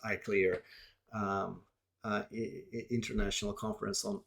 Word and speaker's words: ICLR: um most important conferences ICLR pronounced I clear um uh international conference